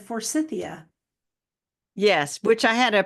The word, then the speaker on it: Forsythia: Which I had a professor in college who said the shrub was named after Dr. Forsythe or Mr. Forsythe. And so we should be properly pronouncing it Forsytheia. Forsytheia.